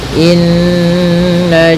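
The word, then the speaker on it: إنّ: Pada bacaan inna di sini ada hukum tajwid yaitu gunnah, yaitu cara membacanya adalah kita menahan suara nunnya ya terlebih dahulu sepanjang 2 harakat lebih sedikit ya, kemudian baru kita baca janya. Inna nah tidak boleh atau jangan dilangsungkan gitu ya, jangan inna jahannam, nanti kurang sempurna dalam menahan gunnahnya.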